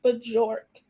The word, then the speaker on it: Bjork: And my last name, which is pronounced Bjork, is actually Swedish, and it is a birch tree, which is kind of cool.